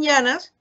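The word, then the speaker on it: Yiannas: Una lectura que es el libro de Frank Llanas, ¿cierto? Que, como yo les decía, se puede descargar gratuitamente, ¿sí? Llanas se escribe Y-A-I-A-N-A-S, Frank Llanas, ¿sí?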